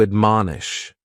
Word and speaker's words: admonish: first word is to admonish and admonish has three syllables and the stress is on that second syllable man admonish and this is a